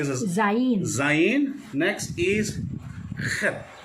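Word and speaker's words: חית: Parang CH ito, pero ang pronunciation Khat. Yan, pero parang may dito, Parang may halak. parang may halak kasi mga Koreano may ganun din. Pero sa Hebrew, Ano? ganun ang pag-pronounce niya. Yan, Khat. Kaya nga, K. okay. Yung iba kasi pinopronounce ito, chet. Chet. Iba kasi baka maging shet. Oh. Pangit, mali yun.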